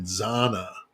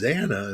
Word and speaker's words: Xana: It was the person was saying Zana, and I'm like, dude, seriously, it's Xana.